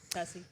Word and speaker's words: tusi: Am I pronouncing that correctly? Yeah. Yep. Tessie.